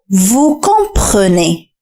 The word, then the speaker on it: vous comprenez: Vous comprenez.